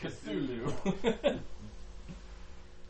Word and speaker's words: Cthulhu: cool kitty kitty Hulu I believe it's pronounced Cthulhu um you know of the monastery and how